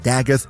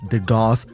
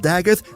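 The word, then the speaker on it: Dagath: Um, and yes, she's pronounced Dag, not de Goth. I know that because I was sponsored to make a video on her when she released and I pronounced her de Goth and then they asked me to re-record it and pronounce her Dag throughout the entire video. So, yes, she's called Dagith, and if you call her the Goth, you're objectively wrong.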